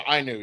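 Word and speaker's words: Ainu: Uh, it was a different one because I am in the IU. I How do you pronounce that? Oh, the Inu.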